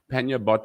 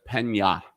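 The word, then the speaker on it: Panha: to say the name it's not pannier bot will be p-a-n-h-a so it's panya panyabot and uh um i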